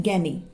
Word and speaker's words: Gagne: थोड़ी दी थी robot gaining ठीक है यहां पे जी जो है साइलेंट है रॉबर्ट गैन ने यहां पे पढ़ा जाएगा ये अमेरिकन से कॉल